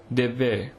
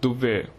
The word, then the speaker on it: Devve: The Badagas of the Nilgiris hold an agricultural festival called Devve, which should on no account be pronounced Duvve, which means burning ground.